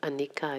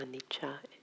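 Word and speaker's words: anicca: spelled a-r-a-n-i -c-ca and the sea is is pronounced as cha instead of Anika it's actually Anita a-n-i-c-c-a and in poly the word literally means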